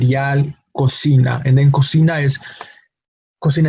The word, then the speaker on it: cocina: the letter C has no cocina the initial syllable code has the letter C producing the K sound the second syllable C has the letter C produce the S sound no so that's that's